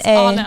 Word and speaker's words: Ana: Is it Why is it Anna or not Anna? What is the difference? It's ANA, Anna. the way it's spelled.